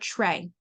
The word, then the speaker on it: tray: think about the word tray. TR. It's spelled TRAY. But if you're a new speller, you just think maybe it's TRA. Tray, TRA. But nope, there's a silent Y at the end, TRAY.